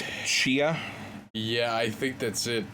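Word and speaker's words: Tchia: it i think it's shia yeah i think that's it it looks very it's spelled t-c-h-i-a i believe they pronounced it as cheo in the trailer uh has a lot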